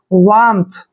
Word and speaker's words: warmth: वार्मथ, आर यहाँ पर थोड़ा सा साइलेंट रहता है बोलने में, लिखने में नहीं।